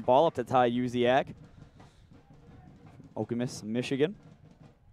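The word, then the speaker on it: Okemos: up to tai yuziak okamus michigan a lot of people try to pronounce that okamose okamis here to tell you zion beaton does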